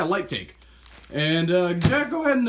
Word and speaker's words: Lightake: what is it called live take or light take sorry for the mispronunciation yeah light take and Jack go ahead